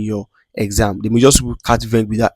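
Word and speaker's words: quatre-vingts: They may just quatre-vingt without S there. But the reason is that we don't pronounce S at the end of the word in French. That's why it is not pronounced.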